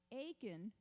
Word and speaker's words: Achan: So during this time, Achan, rhymes with bacon, has several opportunities to come forth.